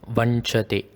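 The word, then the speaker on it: वञ्चते: The N in inji, which is ginger in Tamil, is the same sound which is used here.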